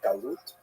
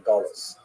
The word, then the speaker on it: galut: connotation but the word exile in Hebrew galut or in aazi pronunciation gulus uh that Jews were thrown out of their land.